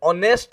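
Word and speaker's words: honest: मानि नियंतु से जणे मु कहबी ही is dash ऑनेस्ट मैन। ऑनेस्ट रे पिला माने एच रे स्पेलिंग हेले भी किंतु तार उच्चारणटा और आरंभ होउछ।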